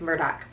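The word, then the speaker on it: Murdaugh: and murdoch um or if you're from south carolina the uh murder um although it's spelled like murdah case um again and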